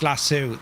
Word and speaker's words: Lasso: to use uh public lasso is pronounced lassu.